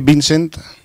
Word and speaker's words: Vincent: Soy Vincent, Vin de vino y Cent de céntimo.